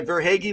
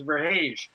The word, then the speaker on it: Verhaeghe: Tim usually pronounces his last name as Verhaeghe. Verhaeghe, oh. But we call him Verhaeghe because it's more hockey-ish.